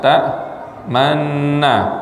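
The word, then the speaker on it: تأمنّا: Malaka la ta'manna. Nah ini, seperti ya. Coba baca Bapak. Ini ismamnya nih di sini. Seharusnya gimana? Malaka la ta'manna. Tetapi asli katanya adalah malaka la ta'manuna.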